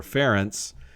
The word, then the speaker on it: Ference: r e n c there's no e it's a hungarian name so it's actually pronounced pronounced in hungarian or ference but no e um